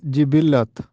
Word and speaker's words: جبلت: عید الاضحیٰ درست ہے۔ درست تلفظ ہے جبلت، اکثر لوگ اس کو جبلت بولتے ہیں جبکہ درست تلفظ ہے جبلت۔